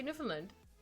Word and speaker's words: Newfoundland: We say Newfoundland.